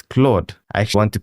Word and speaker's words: Claude: You can even add in a dictionary to say instead of saying clot, I actually pronounce it as Claude.